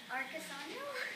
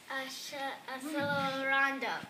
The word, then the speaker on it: accelerando: Help her with the pronunciation. Accelerando. Very good. That is the correct pronunciation. Do you guys agree? Raise your hand if you agree. And everybody say, the Italian pronunciation.